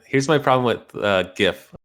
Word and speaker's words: GIF: my problem with uh gif when people say it i think they're saying gift like a birthday gift so i think jeff's